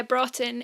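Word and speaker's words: Broughton: geography isn't very good but she is it broken is that how you say it bro um yeah brought in it's about 35 minutes from where i was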